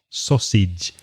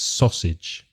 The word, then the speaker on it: sausage: pronunciation of sausage sauce so the first vowel sound is o like sock so and sij sausage because the spelling is different to the pronunciation it's sausage a type of cold